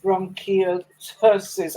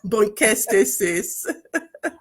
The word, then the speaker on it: bronchiectasis: with bronchiectasis. I took time to try and listen to pronounce that, but please help me pronounce that. Bronchiectasis. Bronchiectasis. Okay, Yes. bronchiectasis.